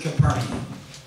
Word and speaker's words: Capernaum: Capernaum, we said, is Kepher Nahum. Kepher means village. Nahum is a man's name. So it's the village of Nahum. Kepher Nahum, and we pronounce it Capernaum.